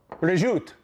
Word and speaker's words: prosciutto: two now this is Italian ham it's called prosciutto you go to Italy they call it where zut that's the way they pronounce it we'll take a few slices of